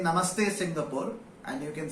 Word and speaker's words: Singapore: The correct pronunciation of Singapore is Singapore. It's not Singapore.